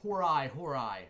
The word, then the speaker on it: hori hori: It is a Hori Hori, or Hori Hori, as I say it. I've heard it pronounced both ways.